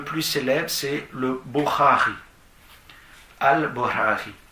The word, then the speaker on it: Bukhari: Al-Bukhari. Donc B-U-K-H-A-R-I. Le K-H en arabe se prononce comme en hébreu le chet. C'est à peu près la même chose.